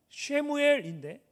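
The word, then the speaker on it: שמואל: 사무엘이라는 이름은 좀 더 정확하게 발음하면 쉐무엘인데 이 쉐무는 들으셨다라는 뜻이고 엘은 하나님을 말합니다.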